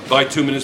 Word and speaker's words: bituminous: right two kilograms all right it's pronounced it's pronounced like bituminous by two minutes but two minutes call it's fine determinus coal